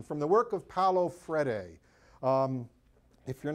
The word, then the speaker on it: Freire: It's Freire. In Portuguese, they don't pronounce certain letters.